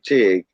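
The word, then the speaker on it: Tigré: I renamed it Bayou Tig Radio Shop, which Tig is spelled Tigre with an accent mark on top of the E, and Tig is for tiger.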